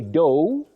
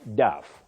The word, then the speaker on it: dough: You say dough, not duff.